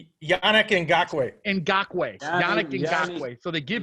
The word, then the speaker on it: Ngakoue: How do you pronounce his last name? Yannick Ngakoue.